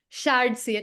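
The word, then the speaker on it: shadcn: like Shard CN I don't know how to pronounce that it's Shard CN s h a d CN yeah absolutely so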